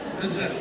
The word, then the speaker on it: Nusret: I want a real nice pronunciation here. Nusret. Listen to her. Yeah, Nusret, yeah.